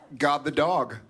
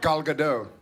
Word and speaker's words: Gal Gadot: God the dog. God the dog. How do you say it? Gal Gadot.